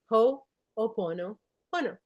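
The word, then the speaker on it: Hoʻoponopono: a lot of people say how do you pronounce it is ho pono po.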